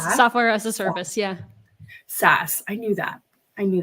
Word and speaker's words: SaaS: that Grace say software as a service yeah SAS I knew that I knew that I just